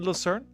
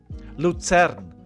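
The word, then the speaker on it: Luzern: going to be in Lousern? Lutern. Let's call it what it is. Lutern. That's that's how you pronounce that city. Let's not do uh the English here.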